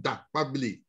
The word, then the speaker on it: Dakpabli: as Dakpabli, and then that it is pronounced Dakpabli, because it is made up of Damoah and Akpabli, who is my business partner. So it's a combination of our two names.